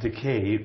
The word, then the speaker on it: Takei: Takei I'm gay and Takei rhymes with gay so if you can't